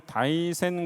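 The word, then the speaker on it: 大仙: 수 있습니다 그리고 인덕천황릉을 다이센 부분이라고 부르거든요 한자로는 대산이라고 하는데요 산처럼 크기 때문에 대산인데 또 신선선전을 써서 대선으로 이렇게 씁니다 굳이 다이센이라고 읽습니다 일본어로 여기에는 또 신선 사상을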